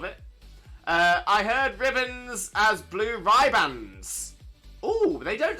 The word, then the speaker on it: Blue Riband: Everyone, if you ask someone what are those chocolates called, people will say blue ribbons, but it's not pronounced like that. It's blue ribands. Blue ribands. It's totally different.